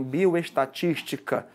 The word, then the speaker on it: bioestatística: Qual é a regra para a gente colocar um acento gráfico em bioestatística? Qual é a sílaba tônica aí? É o tis, né? Então eu tenho uma palavra aqui que é proparoxítona.